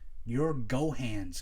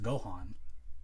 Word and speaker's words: Gohan: But he's like, you're Gohan's kid. It's pronounced Gohan, and they, like I said, they commit to so much.